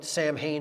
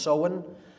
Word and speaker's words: Samhain: fall, is Samhain, pronounced Samhain. It looks like Samhain in English, but it's pronounced Samhain in Gaelic, and that is Halloween or Hallowmas, October 31st.